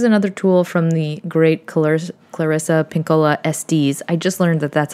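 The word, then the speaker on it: Clarissa Pinkola Estés: This is another tool from the great Clarissa Pinkola Estes.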